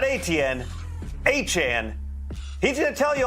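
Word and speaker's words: Achane: ATN, not ATN, Achan.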